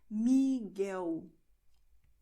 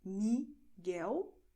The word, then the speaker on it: Miguel: You're going to write L, but you're going to pronounce U, which is why you say Miguel, Thelma. Okay, so this is the way it sounds. Miguel, Thelma.